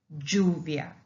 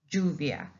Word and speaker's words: lluvia: And basically, we do not pronounce it as English.